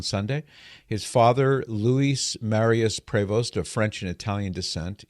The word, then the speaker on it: Prevost: Francis Prevost, and yes, you'll hear people pronounce that last name differently. You'll hear Prevost, Prevost, Prevost. So take your pick, but what seems to be the most consistent pronunciation of his last name is Prevost.